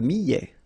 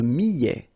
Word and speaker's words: millet: L'avoine, le blé, le maïs, le millet.